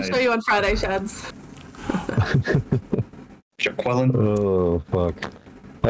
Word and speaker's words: Jaquillyn: It's jaQUILLyn, right? It's actually jaQUILLyn. Yeah, jaQUILLyn. No one ever pronounces that.